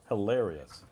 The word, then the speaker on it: hilarious: the stress on on which syllable hilarious it has one two three four four syllable yes and it goes on the second canable absolutely guys as